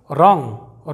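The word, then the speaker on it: wrong: रैप ना कि वैप अगला एग्जांपल देखिए दोस्तों रंग रंग का मतलब मतलब होता है गलत इसे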